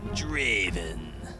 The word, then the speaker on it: Draven: it's a very huge you have to say it like Draven all right okay let's